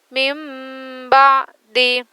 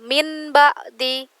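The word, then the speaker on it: مِن بَعْدِ: Bacanya harus diganti ke huruf ba. Mim ba, bukan min ba'di, bukan sumun bukmun, tapi dimasukkan ke ba, diganti ke dalam huruf ba. Summum bukmun. Mim ba'di.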